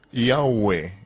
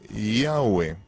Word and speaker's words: Yahweh: Se pronuncia Yahwe, Yahwe, Yahwe en inglés, la Yot correspondería a Y o J.